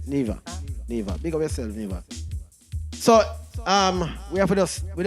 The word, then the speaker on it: Niva: We have, the pronunciation of the last name is NIVA. NIVA. I don't want to say Nivo or Niv something and it spoil the name and you walk out.